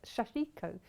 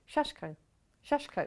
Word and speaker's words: sashiko: yeah i know exactly i thought it was shashiko but cat kept sending in my ear shashko now they know it's flashy maybe that's more the japanese way yeah we say it properly well i don't know we were perhaps anglicizing it it has got an eye in it so you kind of think like what's the eye there for them okay so if